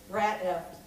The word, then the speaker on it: Rat F**ked: so but I'm like how do you set pronounce an asterisk so what is it being recorded for community access TV so I'm going to go with the Terry Gross version and say rat eft and this is an